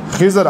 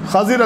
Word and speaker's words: خضر: السلام، جن کو ہم خضر علیہ السلام کہتے ہیں، یعنی عربی کا جو صحیح تلفظ ہے وہ خا کی زبر کے ساتھ، ضاد کی کسرہ کے ساتھ۔ امام بخاری رحمہ اللہ